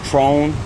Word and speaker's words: Tron: My name is Tron. Spell it for him, too.